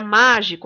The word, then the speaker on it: mágico: Na palavra mágico, a sílaba tônica é o má.